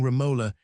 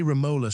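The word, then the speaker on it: Romola: from Scotland this morning, asking me if he is not right in pronouncing Raola in defiance of the world around him, not a large world, I hope, who will say Ramola.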